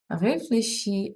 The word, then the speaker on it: réfléchir: Don't forget that in French, CH is pronounced as SH in English.